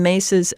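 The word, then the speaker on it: Myss: first one is Carolyn mace's anatomy of the spirit now mace is spelled m-y-s-s anatomy of the spirit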